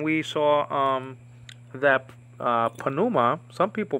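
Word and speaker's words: pneuma: saw um that uh panuma some people pronounce it Numa but it's better pronounced panuma um and I think we get that from English habit yeah you know um not pronouncing the P like ins like in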